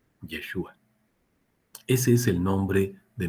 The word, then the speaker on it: Yeshua: Bueno, pues ahora lo vamos a poder pronunciar. Yeshua.